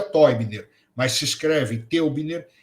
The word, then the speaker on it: Teubner: para o português chamado gunter toyseller que se escreve teubner esse teubner pronuncia Toy Miller mas se escreve teubner